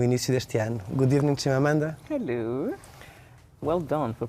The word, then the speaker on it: Chimamanda: Good evening, Chimamanda. Hello. Well done for pronouncing my name properly.